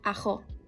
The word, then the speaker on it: arroz: For example, the word arroz would be pronounced as ajo.